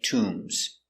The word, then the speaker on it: tomb: In Egypt, they have many tombs. Tomb. T. U. Tu. Tomb. Tomb has a long oo. So we make the sound tomb.